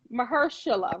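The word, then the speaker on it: Mahershala: winners um i always say i want uh mahershila right that's how you say it i love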